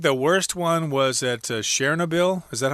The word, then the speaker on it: Chernobyl: I think the worst one was at Chernobyl. Is that how you pronounce it? Chernobyl.